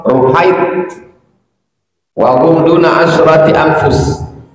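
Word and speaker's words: رهيط: Ar-ruhaitu bi dhammir ra, cara membacanya huruf ra-nya dhammah, ru. Tasghir rah, ruhait.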